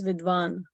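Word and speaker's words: विद्वान्: But if you want to sing according to the meter, then this should be pronounced as vidvan.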